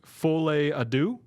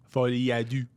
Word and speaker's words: Folie à Deux: review the movie, and it's always the people that like exactly pronounce it like I do, where it's like Folie à Deux. Yeah, but it never has that accent.